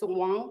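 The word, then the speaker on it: 王: In Chinese, it's pronounced as Wang, meaning king, and also another character meaning pronounced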